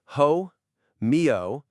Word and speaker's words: homeostasis: And let's get the pronunciation right. It's homeostasis.